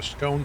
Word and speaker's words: scone: Freedom all the way time a scone to rhyme with phone the scone like gone exactly is it a scone